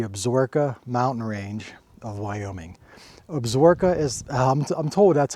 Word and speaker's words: Absaroka: Absaroka is, I'm told that's how it's pronounced. It looks different on paper, but Absaroka, I think, is correct.